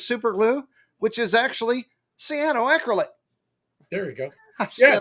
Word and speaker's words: cyanoacrylate: Now, you might know CA is super glue, but it's actually cyanoacrylate.